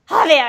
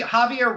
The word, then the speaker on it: Javier: um jav jaier jaier Javier Javier Javier is that right Javier jaier it's like okay they almost make it sound French Javier it's like jaier